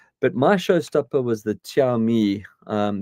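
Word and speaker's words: Xiaomi: my showstopper was the chi um that's x i a o m i so I think you pronounce it Chi um their stand their offerings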